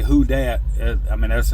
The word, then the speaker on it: Who Dat: Appalachian Customs, Pritchett Select Smokes, Skinner Smoke Rings, Who Dat Pipe Works. And when I say Who Dat, I mean that's how it's spelled, WHO and then DAT Pipe Works.